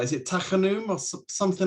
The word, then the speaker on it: Tachanun: Is it, I'm not going to pronounce this right, is it Tachanun or something like that? He pronounces it perfectly. Exactly, Tachanun, which means prayers of entreatment.